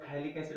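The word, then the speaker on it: phthalic acid: PH silent आहे, म्हणताना ऐकू येताना फॅलिक ऍसिड असं ऐकू येईल.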